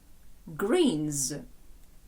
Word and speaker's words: greens: Greens. Пам'ятаємо, що англійське ґвоком, ту, яку ви рідко бачите. Тому і вимова має бути дзвінкою.